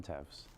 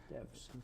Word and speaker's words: Teves: Is that how you pronounce it? Yes, sir. Teves. Teves.